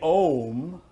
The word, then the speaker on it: om: three forces that create we say om but hidden in that are three sounds oh when we look at